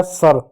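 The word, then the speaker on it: sir: आई यहां देखो एस का स कर देंगे। आई को औ पढ़ेंगे। औ की मात्रा नहीं होती है। छोड़ देते हैं। आर का र हो गया सर।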